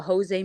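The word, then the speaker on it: José: when it's Portuguese, you pronounce the J, so that's my fault. When it's Spanish, you don't. Boom. So Jose Mourinho, you learn something new every day.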